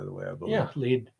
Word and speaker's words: Lead: That's how it's pronounced, by the way, I believe. Yeah, lead.